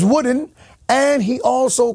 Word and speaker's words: Wooden: uh Yours Truly uh he got my name wrong he called me Bishop Wooten and my name is wooden and he also called